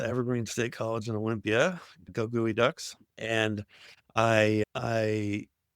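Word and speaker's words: Geoducks: Goey Ducks. And I I For those of you non Washington people, yes, that is the way you pronounce it. It's not Geoduck.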